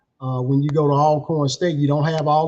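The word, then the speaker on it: Alcorn: So, a northerners uh usually uh pronounce it alorn. We call it all corn and we always say always corn.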